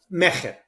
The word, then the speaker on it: Mejer: So the right way, Mejer. Mejer. The Right. phonetically accurate is Mejer. That's true in Hebrew as it is in Spanish. It's a guttural sound.